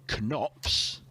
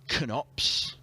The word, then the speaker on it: Knops: And they'll play either Josh Rock or Robbie Knops. 60. And I am emphasising Knops, mispronouncing it as just Knops.